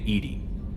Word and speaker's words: EDI: airlock is a jar why are you named edie edie is the phonetic pronunciation of edi that is an acronym for